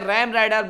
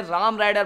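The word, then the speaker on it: Ram Rider: पास है राम ब्राइडल सो बोलते हैं रेन राइडर मार गया यार राम की स्पेलिंग क्या होती है आर ए एम तो इसलिए मैं राम राइडर बोलता हूं यार गैस आप लोग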